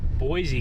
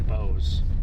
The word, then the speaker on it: Boise: See, I want to say Boise cuz like Boise, Idaho, and it's spelled the same as Boise, Idaho, but I guess it's Bose.